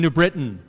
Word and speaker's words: New Britain: Greetings from hard-hitting New Britain, where we know you're not a local if you pronounce the T.